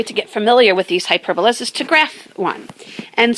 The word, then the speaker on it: hyperbola: is actually called a hyperbola and some people pronounce a hyper bola but hyperbola and they're characterized of